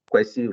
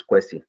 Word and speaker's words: Kwesi: Kwesi rhyme with Jesse. So I know a lot of people have it very difficult to pronounce my name. So the name is Kwesi.